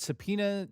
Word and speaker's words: subpoena: Subpoena.